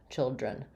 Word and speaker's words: children: the question about children so children has first syllable stress the I sound the